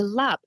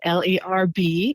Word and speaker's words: larb: You have to say Lap, L-A-A-B. I know the spelling is L-A-R-B, and a lot of pronunciation in the US is Larb. Yes. But that is actually a blasphemy to the name of the dish.